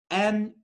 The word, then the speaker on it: Nudie: Nudie. Like you send a nude, but it's Nudie.